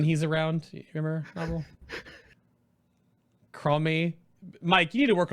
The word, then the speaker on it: Chromie: Her name is Cromie, by the way, on this when he's around. You remember, Nobbel? Cromie.